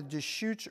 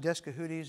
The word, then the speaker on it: Deschutes: So on the Deschutes River, sometimes I've heard it pronounced Descahooties, and that's wrong, okay? So it's the Deschutes River.